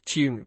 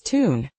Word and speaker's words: tune: How is tune pronounced in American English? Often as tune, dropping the Y sound. So, without the tau sound? Correct, it becomes a direct OO sound.